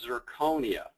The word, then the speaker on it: zirconia: start with nomenclature uh it's amazing how many people say it wrong including myself what we're talking about is zirconia okay it's an oxide